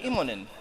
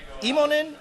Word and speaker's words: Immonen: I would say, is it Immonen, Immonen? Where does the accent go? It's on the first syllable.